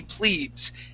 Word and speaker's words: plebes: Okay, so that word would be plebes. Keep the plebes out. Okay, and you would only know that if you knew the long form of the word. Okay, so that is a long E sound.